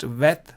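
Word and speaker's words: ב: If you put a dot, actually, although this is the letter is bet, it is pronounced vet, ve, v sound. If you put this dot, then it is pronounced the b sound.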